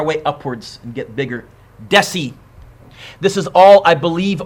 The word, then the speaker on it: deci: And deci, I'm pretty sure, 10 to the 1, yes?